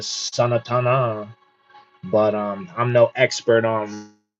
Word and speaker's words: Sanatana: like half the time they don't even say that A at the end there, so they just say Sanatan instead of Sanatana.